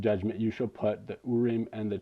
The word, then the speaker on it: Urim: Okay, Urim and Tumim, which some Jewish guy said was how you pronounce it, so I trust him.